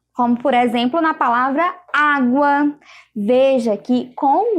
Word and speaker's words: água: Então, água, veja o som do U aí.